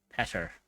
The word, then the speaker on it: Petter: Okay, so what about the guy who choked on his food, which was Peter, or Petter, as it's pronounced here? You know, I imagine it's like Peter.